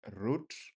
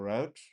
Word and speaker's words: route: Yeah, there there was there this argument of whether you pronounce it as root or route. Uh both are correct.